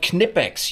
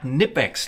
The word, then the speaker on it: Knipex: time you got a knipex it's called knipex you pronounce the k not nipex like the Americans would say I'm more German than